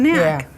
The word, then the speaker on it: knack: Yeah, that's a knack. Yeah. So that's strange because it has that silent K at the beginning of the word. You probably read it without Yeah. even knowing it was silent, huh?